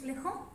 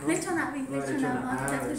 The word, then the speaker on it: lechona: Moi je connais que les Colombiens ont un plat traditionnel qui s'appelle lejón. Lejón, ça se fait du porc rôti, comme ça, avec du riz. J'ai entendu parler de ça. Lechona, je prononce ça bien.